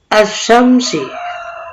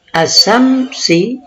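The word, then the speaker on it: الشمس: Cara membaca alif lam pada contoh ini, asyam atau asyam bertemu dengan salah satu huruf syamsiah, yaitu shin, maka alif lam tidak dibaca al, melainkan dibaca ash.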